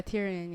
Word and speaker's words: Tyrion: Yeah, Tyrion. Yeah, Tyrion. Tyrion Lannister. He is my favorite character. If he dies, I I Mariam Alshazzley vow to quit the show if Tyrion Lannister dies.